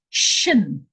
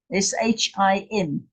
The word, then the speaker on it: Shin: This is the Shin, S-H-I-N, Shin, because the dot is on the right-hand side.